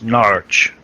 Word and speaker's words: Norwich: If you want to say it correctly, Mr. Edson, and you're from Norwich, it's Norwich. Norwich.